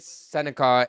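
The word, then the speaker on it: Sennecke: And then Bennett, Sinecki, and Beckett, Seneca, and Jimmy Snuggerud That's how you pronounce it, Seneca?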